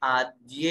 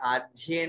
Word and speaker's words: आद्य: तो यहाँ पे आद्य है, आद्य नहीं। बहुत से लोग आद्य आद्य कर देते हैं, अशुद्ध उच्चारण हो जाएगा। आद्ये परोक्षम, आधा द हो रही है, आद्ये, आद्ये।